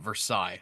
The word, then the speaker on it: Versailles: Is that Versailles. how they say it? I think They say it Versailles. Do they say Versailles? Yes, Okay. they do. I know they don't call it Versailles, so No, that they, Right.